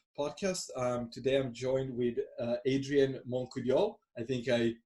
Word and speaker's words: Adrien Montcoudiol: Today I'm joined with Adrien Montcoudiol. I think I pronounced it pretty well.